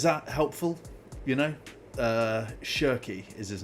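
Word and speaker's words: Cherki: Okay, so it's Sheri. Ryan Sheri. Sheri. The ch is pronounced asshy. Okay, there you go. Have we are we is that helpful? You know, uh Shery is his name.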